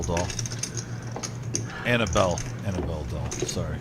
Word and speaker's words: Annabelle: of looks like a nutcracker it's probably the annal doll Annabelle Annabelle doll sorry mispronounced it I don't think I've seen that